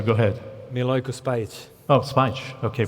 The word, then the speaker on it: Spajić: Oh, Spajić. Okay. Spajić. Well, I have Greek pronunciation and Italian.